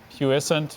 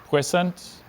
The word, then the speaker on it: puissant: Puissant means strong or powerful, and it's from Latin-derived French. Would you please repeat all the pronunciations again? Puissant, puissant, and puissant.